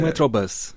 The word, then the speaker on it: metrobus: E eu vou dizer que nós podemos ler à inglesa, não há problema. Mas não faz mal nenhum, e para dizer a verdade, eu até proporia como pronúncia dizermos à portuguesa, porque aquele bus vem